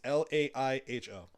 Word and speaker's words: Laiho: I mean, I could be pronouncing it wrong. It's Laiho.